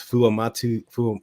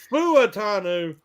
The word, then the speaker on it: Fuatanu: Yeah, well, I leave a syllable out. It's Fuatanu, but I say Futanu, because when I try to put the Fu in the beginning, I screw it up real bad.